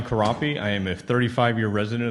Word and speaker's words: Corapi: Speaker Kevin Hart uh crappie sorry if I mispronounced it thank you sir my name is karapi I am a 35-year